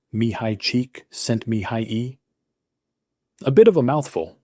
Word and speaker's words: Mihaly Csikszentmihalyi: It's pronounced Mihaly Csikszentmihalyi.